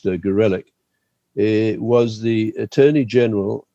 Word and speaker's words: Gorelick: won't remember that Jamie Gorelick or Gorelick, I think she prefers for obvious reasons her name to be pronounced Gorelick.